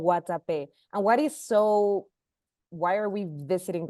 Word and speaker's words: Guatapé: Not far from Medellin, we're going to make a little day trip up to Guatapé. Guatapé, did I pronounce that right? Yeah, Guatapé.